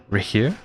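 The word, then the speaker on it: Rerir: reier of sonari reier wa that's how you pronounce it reier interesting so full Ryan daughter CI CI CI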